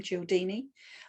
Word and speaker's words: Cialdini: In I think it was the mid-80s, there was a man called Robert Cialdini, and that's how I pronounce him, Cialdini.